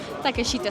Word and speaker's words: Takeshita: You got to help me with the pronunciation. saw that. Takeshita Street.